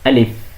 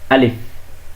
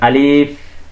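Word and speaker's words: ألف: আলিফ, আলিফ। আর এখানে কোনো টান হবে না, কোথাও আগে পিছনে কোনো টান নেই, একদম সরাসরি কোনো টান ছাড়াই উচ্চারণ করবেন আলিফ। আপনি যদি বলেন আলিফ এভাবে বললে ভুল হবে।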